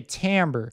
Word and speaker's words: timbre: used to perceive a Tambor that's actually spelled timbre like CIMB r e but it's pronounced Tambor because I believe it's a French word and that French just